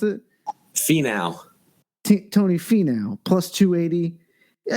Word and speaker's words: Finau: And then Tony Finau, is that how you pronounce it? Finau.